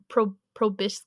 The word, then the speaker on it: proboscis: Behind the counter is a massive ant queen with 10 segmented limbs and large, I don't even know this word, proboscis.